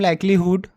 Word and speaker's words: likelihood: The principle of maximum लाइक्लीहुड, यहाँ पे would नहीं होगा, हुड होगा, स्पेलिंग में एच होता है, consist in a finding an estimate for a unknown parameter theta.